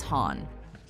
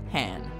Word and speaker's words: Han: these years in the films most people correctly pronounce his name as Han Han Solo I used to be every once in a while however somebody will slip up and accidentally call him hand Lando in particular seems to prefer calling his